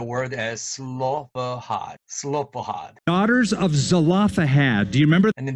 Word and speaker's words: Zelophehad: daughters of slovak but here's a story he pronounces the word as slovak daughters of zelophehad do you remember and then this person pronounced it as zelapohat of the five dollars of zalapa head five